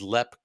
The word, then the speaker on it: Leap: going to jump into leap Castle we are so um but Jamie you're using the American pronunciation of the word for leap but locally it is known as LEP castle in Ireland so I'm going to